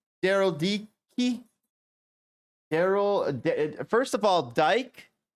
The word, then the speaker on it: Dike: is another word for lesbian his name is pronounced Dicky d e he he Daryl DK Daryl D key Daryl first of all Dyke is uh Dyke